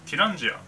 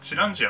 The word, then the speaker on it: ティランジア: にはテランジアで読み方はティランジアもしくはチランジアと読みます自性地につい